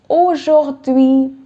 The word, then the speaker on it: aujourd'hui: Today is aujourd'hui.